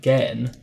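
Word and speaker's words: Gehn: think it's so annoying because it's spelt with an E, as in it's like get G-E-H-N, like Gen. But the way that Atris said it was like Gan.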